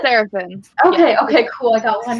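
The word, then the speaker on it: Serefin: And our enemy, enemy character, Seraphin. Is it Seraphin? Seraphin.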